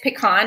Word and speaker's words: pecan: So there is a correct way to say it's pecan, it's not pecan.